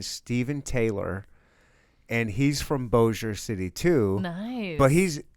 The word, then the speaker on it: Bossier: I had to find a YouTube video where a robot guy was like, I was like, is Bossier. it Bossier? Bossier.